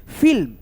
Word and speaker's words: फिल्म: जैसे फिल्म, फिल्म। फी ल म, फी ल म ऐसे करके पढ़ती हो तो आपका उच्चारण यहाँ पे गलत होता है। तो ये आधा ल है, इसमें अ का ध्वनि का साउंड छुपा रहता है दोस्तों, नहीं रहता है, ठीक है। तो इसको बोलेंगे फिल्म।